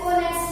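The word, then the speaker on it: honest: एन ऑनेस्ट मैन, ऑनेस्ट person. इसमें भी क्या है? एच साइलेंट है, इसीलिए आवाज क्या आ रही है?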